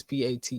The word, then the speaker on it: Pate: that his name didn't pay I think it's p-a-t-e you ain't heard of him oh that's how